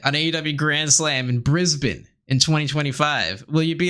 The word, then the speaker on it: Brisbane: you so yet on a Grand Slam in Brisbane is it Brisbane Brisbane how do you say